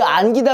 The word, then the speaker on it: 안기다: 근데 안기다 그랬을 때 우리가 안끼다라고는 안 하잖아.